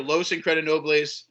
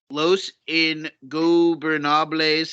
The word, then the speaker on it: Los Ingobernables: The other 6-man tag match on this show will feature Los Incredinobles, No. De Japón. Try that again. Los Ingobernables There de Japón.